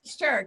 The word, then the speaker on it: Sterk: that's pretty taxing, Mary Faith, but it's Sterk, S-T-E-R-K. For those of us who keep wanting to spell it Stark, it's Sterk.